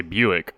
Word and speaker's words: Buick: And of course, it's like the car, Buick. We say Buick. Buick. Because that's how BU sounds like in English.